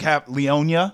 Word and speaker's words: Leonia: I stopped in a town called Leona. Yep. Leonia. It was like Leonia.